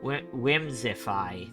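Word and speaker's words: Whimsiphae: oh whimsify okay z whimsify that's how it's pronounced but it's spelled w-h-i-m-s-i-p-h-a-e abby whimsify well oh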